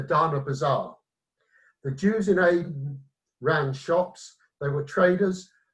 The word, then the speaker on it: Aden: The British call it Aden. I'm told you speak Arabic, it's really pronounced Aden.